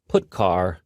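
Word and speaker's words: putchar: are the most popular they are pronounced printf putcar and puts each function is designed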